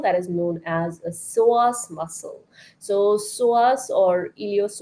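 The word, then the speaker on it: psoas: out and Google it it's called PS o a s so soas muscle the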